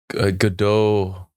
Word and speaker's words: Godot: Godot.